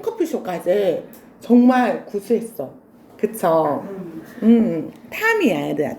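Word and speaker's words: Tom: 톰이라고 읽으면 돼? 안 돼? 안 돼. 미국에는 톰이 안 살아요. 탐.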